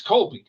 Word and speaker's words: Colby: She's like, it's Colby, like the cheese.